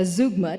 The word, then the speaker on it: zeugma: an example of a zeugma taken from the Jim Henson Hour TV show in 1989. Zeugma. Zeugma. Zeugma. Both are correct.